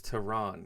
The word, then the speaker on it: Teheran: Like, here's Julio Teheran. I think it's Tehran. You're supposed to say it like that.